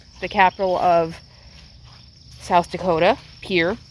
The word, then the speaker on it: Pierre: capital of south dakota pier it's it looks like pierre but like so many